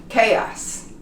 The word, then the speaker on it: chaos: Chaos. It's pronounced chaos. You don't pronounce the H.